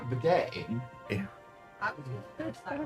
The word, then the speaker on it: bidet: Bozo says it's like a bidet.